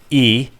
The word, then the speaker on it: e: about just those letters e is pronounced e and means and a e this e